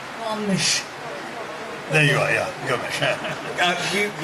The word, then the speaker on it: Gomes: Gomes.